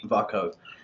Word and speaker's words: Vako: Is that how you pronounce it? Yes, that's correct. Vako.